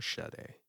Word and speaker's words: Sade: it's no allegra sade is this sade or shade is that french no she's actually she's um i never understood why that's pronounced as shadow i think she's from